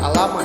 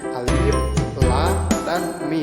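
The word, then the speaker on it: الم: Nah, cara membacanya bukan alama ya, melainkan dieja masing-masing hurufnya, yaitu menjadi alif, lam, dan mim, kemudian disatukan ya.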